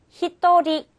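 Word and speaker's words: 一人: 읽는 방법이 조금 틀려집니다 자 한 명은 찌닝이라고 읽지 않고요 요거 어떻게 읽으면 될까요 히도리 히또리 히토리 자 두 명은 니닝이라고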